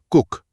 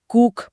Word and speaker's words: cook: तो सामान्य नियम के अनुसार जब डबल ओ आता है तो उच्चारण में बड़ी ऊ की मात्रा लगनी चाहिए, जैसे लूट या बूट में होता है। हाँ, उस हिसाब से तो इसे कूक पढ़ा जाना चाहिए था। बिल्कुल। लेकिन समय के साथ बोलचाल की भाषा में इसका उच्चारण नरम हो गया और अब इसे छोटी ऊ की ध्वनि के साथ कुक बोला जाता है।